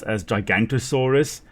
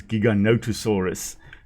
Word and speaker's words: Giganotosaurus: So Giganotosaurus, interesting that the narrator there kind of calls it Giganotosaurus. Very often it is mispronounced as Gigantosaurus, which isn't a species, it's Giganotosaurus.